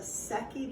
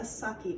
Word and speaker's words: Secchi: He also left us a Secchi disc. Now I did not say a sucky disc. You spell it S-E-C-C-H-I.